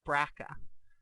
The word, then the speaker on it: BRCA: and watch these numbers you hear people call braa and you see how that kind of would be pronounced braa so braa one and